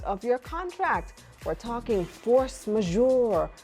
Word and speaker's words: force majeure: this right what is force majeure you said it right it's a French French phrase which literally means superior